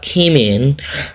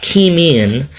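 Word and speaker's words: Caoimhín: You have Keeman Kelleher. It's pronounced Keeman. I don't speak Irish Gaelic, but it's pronounced Keeman.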